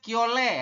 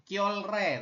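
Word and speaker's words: 켤레: adalah satuan Pa pasang dibacanya kiole ya bukan kolre tapi kle seperti itu yang ini kita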